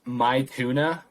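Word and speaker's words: Maithuna: chill the song is it's pronounced my tuna but it's m-a-i-t-h-u-n-a my tuna by brad stank brad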